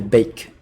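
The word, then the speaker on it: Beek: the bike sorry then the bake that's how you pronounce it it's not big it's baked like no baking cake then the bike uh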